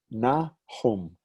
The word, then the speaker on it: Nahum: Two syllables. Here's a vowel. Here's a vowel. You know that that's the n, that's a ch, and that's a m. Nahum. I'm not sure how the biblical prophet's name is pronounced in English. I think it's Nahum, N-A-H-U-M. But there it is, Nahum.